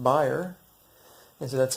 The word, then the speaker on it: Bayer: probably know them as Bayer like vaygr so apparently and it's a German word apparently which is it is actually pronounced buyer and so that's how